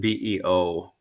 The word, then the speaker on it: byw: BYW means life in Welsh, and BEO means Welsh and Scots Gaelic. It means life in Scots Gaelic, and Oh. um, BYW is pronounced Beo, Mm-hmm. as is BEO, Right.